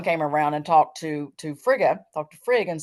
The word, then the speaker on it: Frigg: The death of Balder being he was the son of Odin and Frigg, Frigg. Some people pronounce it Frigga, but there was a woman who was a seer who saw Balder dying.